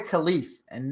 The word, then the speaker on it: Khalifa: um all that yeah and we mispronounced her name the entire time what the your name we called her khalif and no never pronounced the a khalifa was it khalifa but is it like a rapper pronounced it correctly this time but the entire time we did the last show we said khalif which i don't care